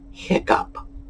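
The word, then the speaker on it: hiccough: my favorites hiccup yes it rhymes with up h-i-c-c-o-u-g-h is pronounced hiccup there are three others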